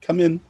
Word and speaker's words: cumin: teaspoon of cumin yeah how do you pronounce cumin come in i say cumin i say cumin yeah yeah all right mum said it like come in come in and